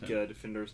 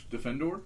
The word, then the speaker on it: Defendor: So, let's go ahead and start with Defendor. You guys good with that? Defend. Not Defender because he gets mad if you say it like that.